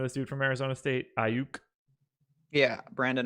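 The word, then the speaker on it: Aiyuk: Ayuk? Yeah, Brandon Ayuk.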